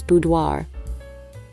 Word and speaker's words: boudoir: In the United States, I think it's more commonly pronounced boudoir. Boudoir. Boudoir. Boudoir. In the rest of the world, and more accurately, it's pronounced boudoir.